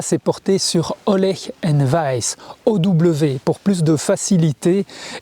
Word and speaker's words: Wajs: porortter sur olech and vice ow pour plus de facilité et pour éviter les problèmes de prononciation de wece qui s'écrit W A JS on utilise souvent les